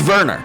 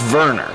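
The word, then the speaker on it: Werner: ] no it's wner no no it's just Verner it's not wner it's spelled wner it's pronounced Verner this call Sheet's ridiculous what league do you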